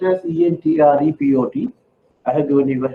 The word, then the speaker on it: entrepot: trade, export trade, and entrepot trade. Don't worry so much on the pronunciation. It's spelled as ENTREPOT. I have given you a handout today. Entrepot trade. Some people pronounce this as entrepot T style.